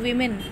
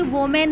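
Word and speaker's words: women: And surely such a वीमेन, बेटा इसे हम कभी भी वोमेन नहीं पढ़ते, इसे हम वीमेन पढ़ते हैं, वीमेन। Okay, it's a correct pronunciation, वीमेन।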